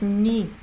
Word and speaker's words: 네가: You pronounce it as 니. Because this is the same sound as that one.